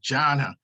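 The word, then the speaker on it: dhyana: that's n d-h-y-a-n-a and it's pronounced with a j sound to a jana that's the method that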